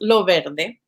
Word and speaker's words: Loverde: So Loverde, which is actually pronounced Loverde.